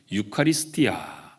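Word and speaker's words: εὐχαριστία: 이 감사 라고는 말을 헬라 오문 어른은 유카리 스티 아 이렇게 발음을 합니다 유카리 스 디 아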